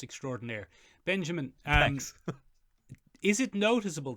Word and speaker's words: extraordinaire: Okay, there's Tig Notaro, escape pilot extraordinary. Benjamin. Yes. It's pronounced extraordinaire.